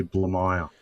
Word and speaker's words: Blamire: your last name the the easiest way to pronounce it is actually blue mile okay see and I